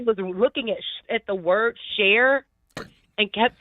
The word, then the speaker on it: Cher: I can understand him mispronouncing share. He saw share. How? And How? Because How can he mispronounce share? He saw sure. CHER could easily be pronounced sure.